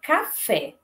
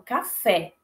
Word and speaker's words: café: Então, eu não falo caf, eu falo café. Eu falo café, eu falo café. Então, aqui no caso, fé é sílaba tônica.